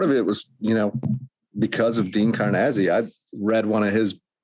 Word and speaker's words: Karnazes: Dean Karnazes.